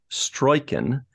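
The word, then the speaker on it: Struycken: One other person I wanted to point out is, I believe his last name is pronounced Stroiken, Carol Stroiken, Mr.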